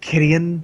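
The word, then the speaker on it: Kytheon: It's pronounced Kittian, by the way. Kittian. No one in the coverage pronounced it that way, so I don't give a shit.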